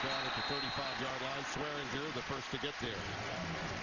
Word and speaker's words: Swearinger: DJ went by Swearinger a year ago, and like so many of the modern-day athletes, decided to go with the heavy G with the pronunciation of his name this season.